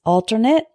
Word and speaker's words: alternate: in the English language the first one is alternate and Alternate alternate means an alternative the next